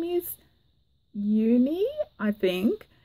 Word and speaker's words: Juni: but her name is uni I think it's spelt Ju and I but I think she said that J is silent so it's either you